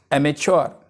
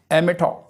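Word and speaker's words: amateur: यूज़ किया जाता है एमेच्योर। एमेच्योर। इसका एक और प्रोनाउंसिएशन भी है एमेटो।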